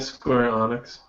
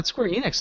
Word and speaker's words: Square Enix: Hardware devices Nintendo does isn't it Square Onyx Square not en Enix no Square Enix I thought that's how